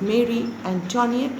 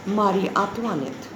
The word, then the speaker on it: Marie Antoinette: Louis XVI and his wife, instead of Mary Antoinette, I told you to pronounce it as Marie Antoinette.